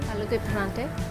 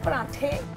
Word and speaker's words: aloo ke parathe: Aloo ke paranthe. See, paranthe.